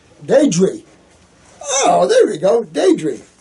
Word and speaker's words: Di: my name is i d d i pronounce d Dy oh there we go Dy thanks Dy never